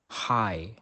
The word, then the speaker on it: high: such as s champan the combination GH after a vowel is also usually silent though High next the letter H